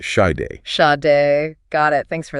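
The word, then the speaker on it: Sade: Oh, and this one's inspired by that iconic song from Side and it's pronounced shade.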